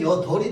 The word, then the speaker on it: 여덟: 자, 그럼 리을로 발음하면 여덜이 될 거야. 비읍으로 발음하면 어떻게 돼? 여일이 될 거야. 그러면 여덜로 우린 발음한단 말이야.